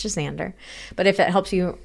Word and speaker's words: Xander: It's also not pronounced Xander, which a few rare people seem to think it is. Xander. It's just Xander.